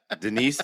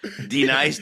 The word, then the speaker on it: D-Nice: D-Nice. Say it right. Denise, say it right. Denise, say it again. Say it right. D-Nice, thank you.